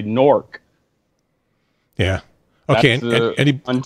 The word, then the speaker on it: Newark: said that too but they all say Newark in New Jersey they say knork yeah okay anyone anybody